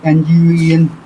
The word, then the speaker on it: Nguyen: Joseph, how to pronounce it? Nguyen.